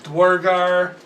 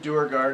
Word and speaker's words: Duergar: it works I've heard in it pronounced a couple ways. Dwargar, Dwogger. Hold on. Hold on. I pronounce it Duergar now, after much training. Because they call them Drugar.